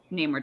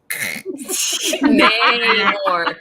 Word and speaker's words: Namor: Namor. Not Namor. You just made my horse sound stupid. It's not nah. What kind of horse goes nah? Like a sheep. Yeah. Nay.